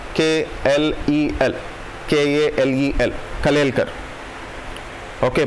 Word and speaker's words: Kalelkar: Okay, it's Kelkar pronunciation, there are few fellows who will pronounce it as Kelkar, but the spelling is Kalelkar, K-L-E-L, K-A-L-E-L, Kalelkar.